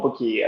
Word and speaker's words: Buki: I find really annoying so I didn't realize actually if I change the spelling to buuk high then they will pronounce it properly they'll call it bookie so most people can